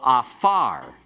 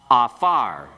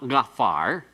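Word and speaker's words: עָפָר: So afar, pronounce it, afar. No, it's not gafar. Afar. You just have to remember this doesn't have that deep guttural sound. The ayin is silent.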